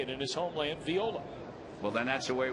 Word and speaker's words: Viola: that last name is Viola. Well, it is. I mean, the I is pronounced as a hard E in Espanol, and so that's how you would say it in his homeland, Viola.